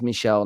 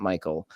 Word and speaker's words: Michelle: you were not aware I was pronouncing his M name wrong it is Michelle not Michael uh I think is